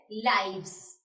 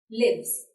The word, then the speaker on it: lives: This is pronounced as lives, not lives here. Okay, because this is the plural of life.